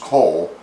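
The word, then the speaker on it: kool: cabbage salad slaw is salad and cool is pronounced coal in dutch so it's coleslaw so there's a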